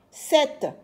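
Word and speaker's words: sept: 6 s i X 7 s e P t la lettre P s'écrit mais ne se lit pas 8 h u i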